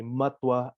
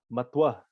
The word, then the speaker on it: matua: conference once and then i heard someone say matwa angus hello matua angus sabiko can you repeat that matwa can you spell that m-a-t-u-a and believe me or not we